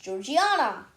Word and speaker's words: Georgiana: Reading by the oil lamplight at age 5, people say about it's actually pronounced Georgiana. People say about Georgiana, she always had a book in her hand,